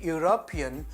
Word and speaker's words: European: only for example your European professor your University Professor because here you go by the pronunciation when you say European you pronounce it as though you pronounce u that is y u therefore you don't use